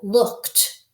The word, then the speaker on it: looked: So looked, I looked at the book. Looked. We say we have the t sound at the end.